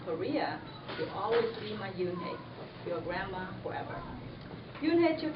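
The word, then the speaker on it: Unhei: "Yes, it's pronounced Yoon-hye, and it means grace," Mr.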